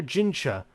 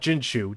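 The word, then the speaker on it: Jinchi: As Elder Gincha, not Ginshu, Gincha. God damn it. As Elder Gincha drank tea with the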